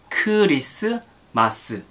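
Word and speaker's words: 크리스마스: basically the same but korean christmas has five syllables like kurisu masu it's not like christmas which is two syllables it is like curious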